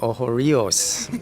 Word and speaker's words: Ocho Rios: out how the inn is recovering here in Oho Rehos, Jamaica after this hurricane they had two months ago. I love that pronunciation. Oh, Rios and in fact it's eight rivers.